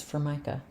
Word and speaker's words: Formica: It's Formica. Okay, what is that? You said Formica. It's Formica.